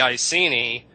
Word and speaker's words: Iceni: In Latin, an E would be pronounced A. In English today, it's E. A-E. The I in Latin would be pronounced E. Today it's pronounced I. E-I. You're going up in the mouth. So it's Iceni to us. To the Iceni, it would have been Iceni.